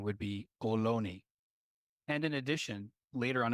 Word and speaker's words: Ohlone: The correct pronunciation would be Ohlone.